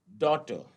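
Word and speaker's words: daughter: डॉटर, तो डॉटर में DAU और डॉ और ट, लेकिन फिर भी जो है GH है, लेकिन साइलेंट था।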